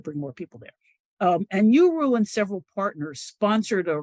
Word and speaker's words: UERU: It's UERO, Undergraduate Education Research Universities, pronounced URU.